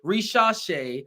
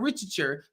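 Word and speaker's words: Risacher: You're not getting me to say as a Dahar Hawks fan that Zachary Risha, okay, Rishash, it's not Richard.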